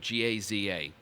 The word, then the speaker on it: Gaza: If I were pronouncing it in Hebrew, which is closer to the Arabic, it would be like Gaza. It's like the Hebrew letter ayin is a very deep guttural letter.